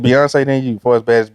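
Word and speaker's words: Beyoncé: No, Did I say it wrong? It's Beyonce, and then it's me from the South Side.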